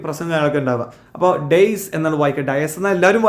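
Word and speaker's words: dais: സഷ, Naveen, please come to ദ ഡേയ്സ്. രണ്ടുപേരും, സഷയും നവീനും, മുന്നോട്ട് വരൂ. Come to ദ ഡേയ്സ്. Diaz എന്നാണ് എല്ലാവരും പറയാറുള്ളത്, ഡയസ് അല്ല, വേദി എന്നാണ് ഡയസ് എന്ന് പറഞ്ഞത് കേട്ടോ. ഡയസ് പിന്നെ അപ്പോൾ ഡേസ് പറഞ്ഞ വേദിയാണ്, അത് നമ്മൾ ഉയർന്നിരിക്കുന്ന സ്ഥലം അല്ലേ.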